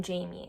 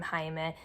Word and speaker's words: Jaime: There was something about his name and its Spanish pronunciation that they just did not want to say. They saw it written as Jaime, and for them in English, that means you have to say it as Jamie.